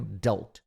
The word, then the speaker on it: adult: Esse D meio que soa como R, né?